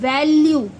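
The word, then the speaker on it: value: क्या बोला था कि ई जब ई की वॉइस नहीं होती जब ई साइलेंट में आता है तो एक तरह से यू तक खत्म हो जाएगा तो इसको हम क्या बोलेंगे वैल्यू ई किसी भी वर्ड में आ जाएगा ना लास्ट में तो उसकी वॉइस नहीं होती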